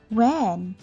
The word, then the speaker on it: when: When? This one W dia tak malu dah, dia tak shy. Dia bukan silent letter. When? This one tak mau, jangan sebut hen pula.